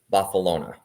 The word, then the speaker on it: Barcelona: And super excited for Rocky to experience Barcelona, which is how they say it in Catalan.